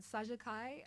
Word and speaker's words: Saxsa Khai: Well, you can follow me on Instagram, Saja Kai, and also on Facebook. So it's spelled SAXSA. That's for the Saja, and then the Kai is KHAI. There you go. Follow me there. Like sax, Kai.